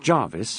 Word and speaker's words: Gervais: "Well, it's clear that Gervais, pronounced Jarvis, by the way, if it ever crops up, saw Izzy outside the hotel on the night in question, late.